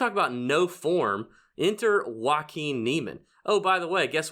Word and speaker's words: Joaquin Niemann: it's actually pronounced is Joaquin Niemann, like Joaquin Phoenix, you know? It's you Joaquin. love, Yeah, it is Joaquin Niemann.